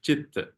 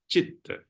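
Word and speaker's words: citta: mind in Pali is chitta. Although it is letter C, it doesn't pronounce as K, like a cake. It's pronounced as ch, as in chair.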